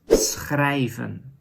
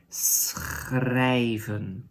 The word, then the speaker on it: schrijven: So combining those together is schr. So what are words with this sound? Like writing in Dutch is schrijven. So say it with me, schrijven. So you can pronounce it as that, but you can also say schrijven. And there's no shame in a little accent, right? So you can pronounce it a little bit more English, like schrijven, right? So the R is r, right?